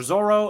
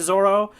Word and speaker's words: Zoro: it says Zolo or Zoro. If you're watching the anime, they even pronounce it Zoro. It's because the L and the R sound in Japanese, they make the same.